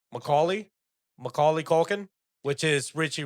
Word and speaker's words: Macaulay: Macaulay.